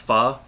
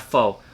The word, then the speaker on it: pho: guys should eat besides the famous pho that's right it's pronounced far not faux or if you guys